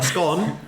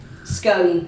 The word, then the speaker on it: scone: Or a scone, as we say in Belfast. Well, we do argue a little bit about the pronunciation, but they're both accepted, aren't they? They are both accepted, but scone is the correct one, I think, if you're